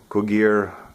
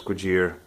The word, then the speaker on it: Cugir: this is the cugir cool gear a lot of people pronounce differently the proper pronunciation is good year so I don't have